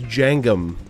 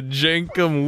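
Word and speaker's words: Jenkem: I thought it was Jangum. Is it Jenkum? No, it's K, yeah.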